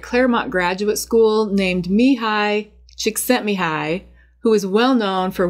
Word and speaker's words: Csikszentmihalyi: And let me just pause here to address his name, because it definitely looks like it doesn't have enough vowels and is unpronounceable. But despite the scary spelling, it is pronounced Mihai Csikszentmihalyi.